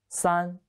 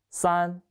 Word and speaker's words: 三: The pronunciation is 三. 跟我读三.